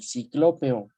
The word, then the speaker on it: ciclópeo: Ok, ciclópeo. Ciclopeo. Acento en la O.